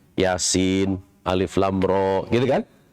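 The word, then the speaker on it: يس: Yasin. Bukan yasa. Kalau yasa itu diharokati yasa tuh.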